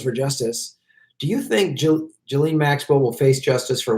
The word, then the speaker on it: Ghislaine: Well, I obviously just did a video because they finally said they're probing Ghislaine Maxwell, or it's pronounced Ghislaine.